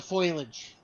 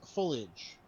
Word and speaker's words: foliage: problem with that that's that's the foilage oh okay or or correctly pronounce foliage foilage uh the